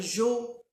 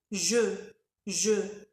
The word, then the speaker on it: je: ça se prononce alors ici dans Je il faut respecter euh le son e e je faut pas dire Jo ou Ju non c'est faux je je et en ensuite on